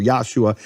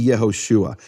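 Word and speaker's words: Yehoshua: the possibilities in Hebrew you can't have yaho osua or yosua it has to be yahushua it becomes what's called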